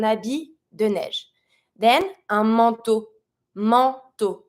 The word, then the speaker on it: manteau: Then un manteau. Manteau. Careful with the pronunciation on this one. A-N makes the sound en. E-A-U makes the sound O. Just like the letter. Un manteau. Un manteau will be a coat.